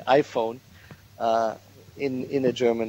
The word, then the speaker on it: iPhone: that comes from English you don't don't say eona but you say iPhone uh in in a